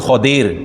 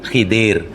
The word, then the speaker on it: Khadir: Khadir H kepada Khadir sebnya apa pengucapannya betul Khadir dah jadi Melayu Khidir itu biasalah itu bagi saya dah biasa sebnya Khadir tapi dah melayuir kan jauh Nabi Khidir jauh Melayu tuh terbang jauh jadi berubah jadi Khadir jadi hiidir